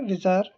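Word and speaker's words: bizarre: विज़ार इसकी प्रोनाउंसिएशन है, इसका मतलब ये है कि वेरी स्ट्रेंज या ऑड इन अ way that seems unreal.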